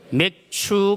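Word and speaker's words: 맥추: 맥주 감사 주일을지고 있습니다 발음을 좀 조심해야 되겠죠 몇 주 감사주일이 아니고 무슨 주일이라고요 매추 감사주일 우리 학생들 특별히 잘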